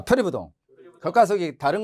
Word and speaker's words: 표리부동: 이 아닐 불자 다음에 디귿이나 지읒이 오면 불자가 뭐로 발음돼요? 부로 발음되죠. 그러니까 디귿이 오니까 동이 디귿이니까 이게 디귿이니까 불동이 아니고 부동이죠. 예, 봐. 표리부동.